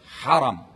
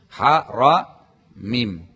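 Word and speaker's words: حرم: Pertama-tama , hadirin sekalian, Anda harus tahu kata haram. Kata haram. Ha ra mim, baca langsung, ya. Bagaimana cara membacanya? Haram. Jangan ucapkan haram. Karena Jika Anda menambahkan alif, ha ra, alif mim, artinya dilarang.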